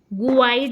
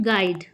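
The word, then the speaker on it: guide: Next question है विच letter is silent in the word गाइड? गाइड word में कौन सा साइलेंट है? तो यू साइलेंट है। ठीक, गुआइड नहीं बोला है, गाइड।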